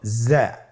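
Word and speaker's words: ز: উচ্চারণ করার সময় অবশ্যই এক আলিফ টেনে পড়তে হবে, এক আলিফ টেনে পড়তে হবে।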